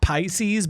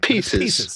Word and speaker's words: Pieces: It could be like, they could pronounce it Pisces, but it's not. But it's not like they could pronounce it that way. Pieces. Like Reese's Pieces.